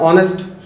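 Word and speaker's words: honest: अब वो ए एन इसलिए लगा हुआ है क्योंकि जो उच्चारण है, जो साउंड है उसकी, वो ओ से हो रही है। हम ऐसे तो पढ़ते हैं ऑनेस्ट, ओ आ रहा है, ठीक है।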